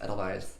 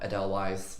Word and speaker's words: Edelweiss: the net gallium Edelweiss I just found out that pronounced idolize not Adel wise which I was pronouncing like that what it's Ella buys